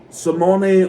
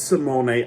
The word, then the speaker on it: Simone: Um and then Simony Fontio and yes it's Simone. I stupidly pronounced Simon or Simone. It's Simone uh Fontio.